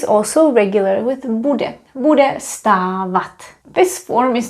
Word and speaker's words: stávat: Stávat, stávat, remember, it's just like stát, but it's a little bit longer.